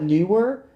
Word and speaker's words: Neewer: sponsor me, but they never will, and that's okay. But it's Neewer. I call it Newer, but I've heard people call it Never.